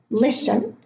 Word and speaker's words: listen: So I'm going to read them again: Christmas, castle, fasten, listen, glisten, soften, moisten, hasten, wrestle, whistle.